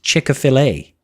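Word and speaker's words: Chick-fil-A: food play similar to hey I know that's pronounced chickfila uh Kan say a fried chicken better than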